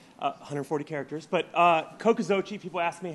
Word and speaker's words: Cocoxochitl: a quick speech uh 140 characters but uh kokozochi people ask me how to pronounce it it's kokozochi aztec word for school gardens um need venture